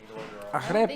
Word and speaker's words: arepa: You have to roll your Arepa. R's. You have to roll your R's.